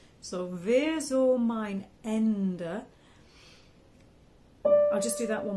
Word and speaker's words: Ende: the S is a z Zo mine m-i-n-e Ender so it's like the word end it is